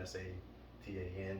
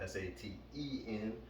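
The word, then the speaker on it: seitan: Some people spell it like Satan, S-A-T-A-N. Some people spell it S-A-T-E-N. Some pronounce it saten. Some pronounce it satan.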